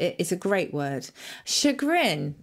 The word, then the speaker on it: chagrin: is a great word Chagrin or Shaka as they say in French is a beautiful word